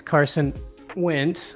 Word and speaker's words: Carson Wentz: well first of all you said his name wrong it's carson wentz okay so make sure you get that right next time i appreciate it